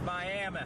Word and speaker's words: Miami: not coming into Miami Miami Oklahoma which they pronounce Miami we go over this